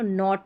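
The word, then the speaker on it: knot: और यहां पर के एन इसको भी न पढ़ेंगे क्योंकि के साइलेंट है तो नॉट पढ़ा जाएगा।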